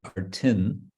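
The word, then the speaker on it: arthin: So in the uninflected form, it would be artin, with a short I and an N, artin. And then in nominative, it becomes arti, like yogin, yogi.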